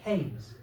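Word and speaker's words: Keynes: I know it's spelled Kees K E Y N S, but here in the village we prefer to pronounce it Kees.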